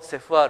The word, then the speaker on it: CEFR: SR って何でしょうこれセフと読むんですけれどもえあの